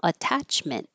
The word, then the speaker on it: attachment: In attachment, this T or these two T's are between um vowels, but they won't change because they're in the stressed syllable. Attachment.